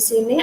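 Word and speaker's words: ศรี: Contohnya di sini ada sosala dan juga rora, terus sarai di atas rora yang akan dibaca dengan si.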